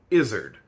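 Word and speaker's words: izzard: Through this research process, I actually discovered there's a third pronunciation that is thankfully less common. Izard, which comes from the French Ez.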